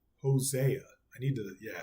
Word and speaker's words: Hosea: we have four uh Hosea I always say that like Hosea I need to yeah I say it like with a Spanish accent almost like Jose Hosea lians Jacob as